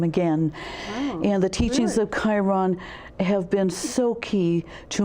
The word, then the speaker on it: Chiron: a little bit different the Sharon or is it the chair oh yeah pronounce that um I specialize in in Chiron Chiron okay I could see how it was spelled in my head but I couldn't figure out how to pronounce it yes c-h-i-r-o-m Chiron okay who's the wounded healer